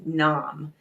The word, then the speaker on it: Nam: pronounced sat and then n-a-m that's pronounced nom and the way i